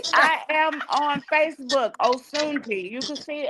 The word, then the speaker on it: Osunji: So I am pronouncing it wrong. The Africans told me my name is Oshunji. Oh But Shunji. yeah, but my grandmother named me Osunji.